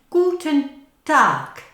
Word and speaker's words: Guten Tag: Now you can hear a k sound at the end, Guten Tag.